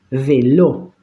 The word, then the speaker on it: vélo: Vélo, acentúo en lo, ¿sí?